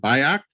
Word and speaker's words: Bajak: is it i should have passed your name pronounce it by act yeah perfect uh and uh we appreciate you